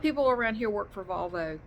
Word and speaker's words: Volvo: I'm going to do a video reading about Volvos it's pronounced Volvo here I know some people pronounce